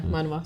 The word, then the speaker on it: manhwa: But it's actually a manhwa, I believe it's Yeah. pronounced. Yeah, manhwa.